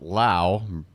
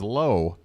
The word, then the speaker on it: Lowe: Again, folks, just to avoid any confusion, there's 2 guys in the lineup for the Rays with the name Lowe. One is pronounced Lau, the man at the plate, Brandon Lau. The other is Lowe, and he's playing in left.